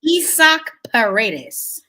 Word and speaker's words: Isaac Paredes: That's pronounced his last name. Isaac Paredes.